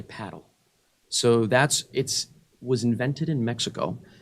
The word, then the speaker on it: padel: Fun fact about paddle, a lot of people in America pronounce it padel. I've been finding out from the paddle guys, you want to say paddle.